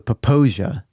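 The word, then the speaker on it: Popo Agie: It's spelled Popo space Agie. Popo I didn't Eggy? know. It's the Paposia, naturally.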